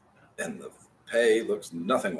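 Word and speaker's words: פ: The pay sounds like a P.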